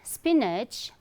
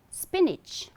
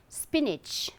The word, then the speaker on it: spinach: Okay, and this is not spinach but spinach, spinach. Okay, though you will find A, N-A-C-H, but the correct pronunciation is spinach.